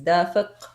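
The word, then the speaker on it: دافق: The word for gushing is dafiq with a qaf, dafiq in Arabic.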